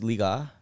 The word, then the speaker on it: Liga: It's Liga?